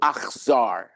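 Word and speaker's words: אכזר: The first syllable, ach, is the same sound as brother, okay?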